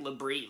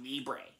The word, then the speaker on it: Libre: movies titled nacho libre i used to mispronounce that as like labrie like nacho liberty but it's actually pronounced nacho libre yeah there you go